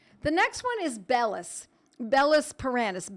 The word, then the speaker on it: Bellis perennis: Bellis paranis, Bellis, B-E-L-L-I-S, not belladonna, even though some people spell it B-E-L-L as an abbreviation.